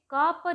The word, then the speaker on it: कृपा: तो हम जो सही शब्द होगा उसमें क पर नीचे जो वो उच्चारण होगा वो री का होगा, तो वो कृपा होगा।